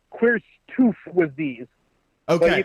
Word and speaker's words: QRSTUVWXYZ: Pronounced Queerstoof with these.